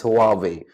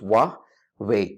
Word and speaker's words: Huawei: this is extremely extremely common to say as hobby or as hobby but the correct pronunciation for this famous Chinese smartphone electric giant is wobbling as in voix wa8 wah way way as in W ay Y Wahby that's